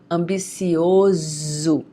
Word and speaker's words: ambicioso: If the S is between two vowels, the pronunciation of the S will be Z, ok? Ambicioso.